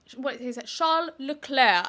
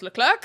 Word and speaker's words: Leclerc: Yeah, that meme of him where he's like, the proper pronunciation is Charles Leclerc. And then it cuts to him in Drive to Survive. He's like, hello, my name is Charles Leclerc. And I'm like, you've just Britishified yourself.